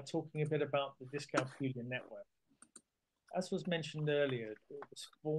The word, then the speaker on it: dyscalculia: I always, for me, when I first started to hear about dyscalculia, I had to sort of keep thinking of it rhymes with Julia. We also have on our website a dyscalculia specialist directory, and this